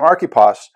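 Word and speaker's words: Archippus: I looked up the pronunciation of this guy's name, Archippos.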